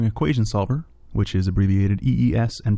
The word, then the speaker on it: EES: its core Engineering Equation Solver which is abbreviated EES and pronounced e by the way is a simultaneous